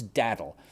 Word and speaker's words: Datil: So this is Daddle. It's spelled Datil, and I discovered this pepper just reading about them online.